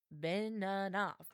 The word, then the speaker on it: Beninoff: I was like, Beninoff. It's like 3 syllables.